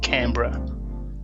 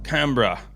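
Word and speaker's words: Canberra: I got to say we probably say Cambra Cambra yeah yeah I I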